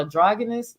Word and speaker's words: androgynous: Because it just makes you look at him like that dry, what's called androgynous. Am I saying that wrong? Because how you say it? Like, androgynous. Androgynous. Oh, they go IG.